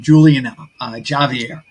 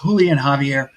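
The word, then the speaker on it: Julián Javier: being called um I I pronounced his name Julian Javier but it's Julian Javier who is a good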